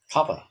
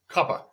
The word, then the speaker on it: Kappa: And more than one kapp is pronounced kappa. Kappa.